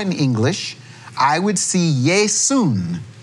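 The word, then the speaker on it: Ἰησοῦς: English I would see Yae soon that is how they say it in Greek a different ending at the end which a little noon sound now if I go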